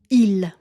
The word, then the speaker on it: il: Un autre pronom qu'on contracte souvent, c'est le pronom il. On va le prononcer tout simplement i.